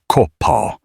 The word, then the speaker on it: Kopaw: He introduced himself as Kopaw, pronounced Ko-pa, which he explained meant dark hawk in his language.